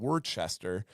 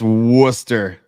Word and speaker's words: Worcester: near Nick and Rob out of word chest and it's good is gold that's Worcester oh my bad my bad